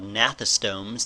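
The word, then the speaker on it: gnathostomes: group of creatures called natha stones the G is silent natha stones or vertebrates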